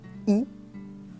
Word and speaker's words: y: Donc il est nécessaire de les comprendre et de les utiliser. On commence avec le premier pronom donc le Y qu'on va prononcer I comme la lettre I. I tout simplement.